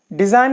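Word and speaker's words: design: बीजू का नेक्स्ट है डिजाइन में देखें डिजाइन मिंस नमूना तो डिजाइन में एन से पहले जी आया है तो जी साइलेंट हो गया इसी तरीके से कैंपेन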